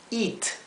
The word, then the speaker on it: eat: e se pronuncia I la ea se pronuncia idénticamente y por ejemplo eat que significa comer te que significa t Beat que significa vencer a alguien o también significa golpear bien o sea se pronuncia como una I larga I vamos a poner